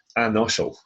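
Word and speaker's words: an-fhoiseil: Anoshel. I remember we saw in the introductory lesson that FH is silent. So an-oshel, anoshel, restless or troubled.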